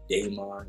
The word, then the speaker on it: daemon: They say, some people like to pronounce it daemon, because it's D-A-E, Right. is that word, right? So I've heard it pronounced both ways.